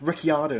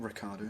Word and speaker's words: Ricciardo: Say his name properly. It's Ricciardo, not Ricardo.